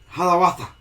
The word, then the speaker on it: Hiawatha: That's how I mispronounce it. Native American word. It's Hiawatha. Hiawatha.